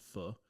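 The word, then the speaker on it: phở: um you know a lot of those stews that we call I think we pronounce it fu ph h o o um so a lot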